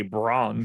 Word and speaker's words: Braun: Or I was like, wait, it's Christian Brown? That's how you pronounce it? Well, I mean, any human being reading that is just going to say Braun because that's what it is.